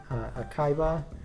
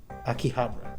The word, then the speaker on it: Akihabara: that have been affecting Akaiba. And Hold on. They always say it, and I always forget. Akihabara. There we go. well, Akihabara is a place. Akihabara. That's how they say it.